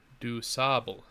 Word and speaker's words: DuSable: DuSable pronunciation. DuSable.